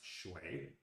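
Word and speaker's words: 水: The left side of the character, the three short strokes in an abbreviation of a character, which means water, is pronounced shui.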